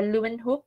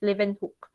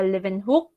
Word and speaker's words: Leeuwenhoek: so it's not uh lumenhoop it's actually leaving me a german cassette saxon so the w is um pronounced as v okay so it's live and hook so anton fuan uh live in hook so yanchang an accredited